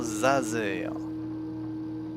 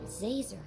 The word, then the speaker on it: Zazer: Ça se prononce professeur Zazer. Comme un laser avec un Z, c'est compliqué. Zazer.